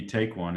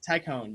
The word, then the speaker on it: Taikone: Looks like up next we've got, looks like Taikone, if I'm pronouncing that correctly. It's introducing, or maybe Take One if we look again. Introducing Take One, a company introducing. Nope, Taikone, you got it right.